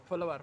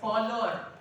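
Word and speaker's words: follower: फॉलोवर फॉलोवर। गलती आपकी नहीं है, टीचर की है। ये कॉमन है, ये कॉमन है और यहीं से फर्क पड़ता है। ये फॉलोवर नहीं है, इसमें डब्ल्यू साइलेंट है।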